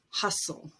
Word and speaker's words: hustle: And at the end of a word, if you have S-T-L-E, T is always dropped. Castle, whistle, wrestle, hustle.